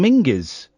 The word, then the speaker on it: Menzies: John Menzies, or it's pronounced properly, John Mingus.